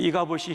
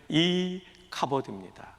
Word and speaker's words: 이카보드: 이 이가봇이 히브리 발음 그대로 옮기면 이카보드입니다.